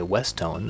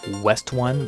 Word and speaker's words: Westone: By the way, I've been calling them West One, but someone says the pronunciation is not correct. Of course, when you're dealing with a Japanese company that has a made-up English name, it's hard to say what the correct pronunciation is, but it turns out it's a portmanteau of West and Stone, so Westone seems logical.